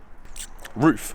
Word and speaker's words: RUF: with the guys from Ruff UK to film a rough roof actually that's the correct pronounciation I didn't know that